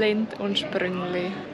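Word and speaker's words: Lindt & Sprüngli: Lindt und Sprüngli.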